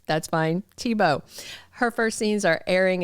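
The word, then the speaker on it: Thiebaud: the same way and she pronounces Taibod like in the German way and I have always thought it was that way. You guys set me straight. That's fine. Tibo.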